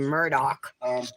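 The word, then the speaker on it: Murdaugh: Murdoch trial actually they pronounce their last name Murdoch even though it's spelled it ends with an a-u-g-h like Ah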